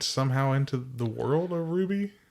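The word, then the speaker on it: RWBY: hell is that uh the anime Ruby it's spelled RW b-y r w b y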